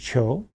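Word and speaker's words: 求: Contemporary version of this would be on the right, top right, pronounced cho. It means, in modern Chinese, it means to seek, no particular relationship to a fur pelt. But the sound value, cho, if you add on combine that with another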